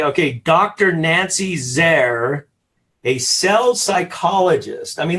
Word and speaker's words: Zare: So when I started my business 5 years ago, Rapport Builders, and I end it with a Z for Zare, that rhymes with care, Rapport Builders, I combined my two passions just like you.